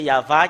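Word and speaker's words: יהוה: euh euh confirme cette ce terme que c'est yava qui est le vrai Yav n'est pas dans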